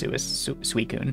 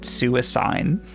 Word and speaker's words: Suicune: I'm not even sure if Suicune's right, but I was just told that's how you pronounce it. But I, for the longest time, pronounced it Suicine.